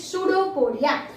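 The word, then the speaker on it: pseudopodia: वो food material के पास finger like projection, ये जो है इट is called सूडोपोडिया. Here the spelling is PSEUDO पोडिया. सूडोपोडिया में P साइलेंट है, इट इज सूडोपोडिया.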